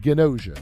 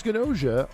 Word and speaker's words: Gnosia: the game I am talking about is called ganosa it is spelled GN o s i a so if